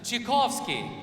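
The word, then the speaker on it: Чайковский: 뾰트르 차이코프스키, 원래 러시아 발음은 취코프스키입니다. 라고 합니다. 그래서 같이 한번 해보겠습니다. 취코프스키.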